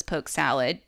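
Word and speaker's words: poke sallet: it around here so it's pronounced around the south as poke salad the word salat ending with the et it comes from an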